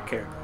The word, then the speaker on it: caramel: Eat my caramel. Caramel. I'm also literally the only person in my family who pronounces that correctly. And they probably argue that it's pronounced caramel. Huh. The other A is not silent.